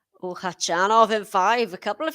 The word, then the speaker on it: Khachanov: i went uh the atp website where he pronounces it and he says hachanov so i'm i'm not sure whether to say hachinov or hachanov but yes maybe if you could